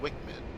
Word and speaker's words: WCMD: IMS carried by the A10C include the joint directed attack munition JDAM and the wind corrected munition dispenser WCMD often pronounced Wickman.